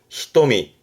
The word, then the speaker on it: 瞳: 눈동자를 의미하는데 발음이 히토미.